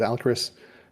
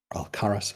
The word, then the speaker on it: Alcaraz: Again, this is Alcaris. Alcaraz, as my name is technically supposed to be pronounced, but no one ever says it right.